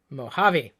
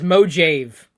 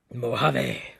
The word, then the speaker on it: Mojave: so what's it called Mojave okay how many people want to bet that someone's gonna mispronounce it as moji v' I'll be the first